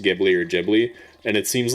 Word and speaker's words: Ghibli: And it seems like the general consensus is Gibli, but I hate it because the reason people say it should be pronounced Studio Ghibli is because the creator of it in Japanese pronounces it Jibli.